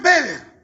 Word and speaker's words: Weber: de la sociología que se llama Max Beer se escribe Max Weber y Max Beer este